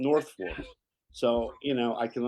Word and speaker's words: Norfolk: It's spelled Norfolk, but they call it Northfor.